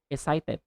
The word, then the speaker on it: excited: excited excited excited excited in standard English you can say excited I feel excited but in American accent you can again replace the t2d but very quick okay excited I'm so excited